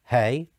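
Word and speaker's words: ה: So you have the letter below, which is pronounced Yud, the letter below pronounced He, the letter below which is pronounced Vav, and back to the He.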